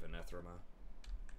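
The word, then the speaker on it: Anath Raema: can help me kite out lords or something with the Prey of Anethrema. That's how you pronounce it.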